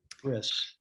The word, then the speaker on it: bris: Reb Zalman held Or when he had his brief, when he, Jeff, you can tell me the pronunciation better, but it was his circumcision ceremony. Bris, usually.